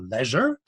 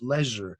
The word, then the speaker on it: leisure: bound to stay your leisure. You learn how to pronounce real English when you read Shakespeare. It's leisure, not leisure, as Americans say.